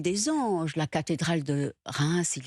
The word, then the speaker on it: Reims: J'aime bien comme vous prononcez Reims. J'ai répété ça beaucoup, j'ai pas pu. Reims, on dit.